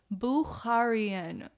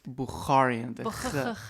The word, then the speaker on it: Bukharian: my gosh I know say it with me buaran yes how do you even spell that I don't even want to attempt it but you need to have like the notarian or bararan like my friends you say it's buaran you know basically you